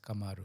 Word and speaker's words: Kamaru: umari is like no it's not kumaru pro it's kamaru so obviously I have